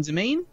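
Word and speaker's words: demesne: altogether y from from domain click one on the left is that what you're calling d m s NE e is pronounced domain yes I don't know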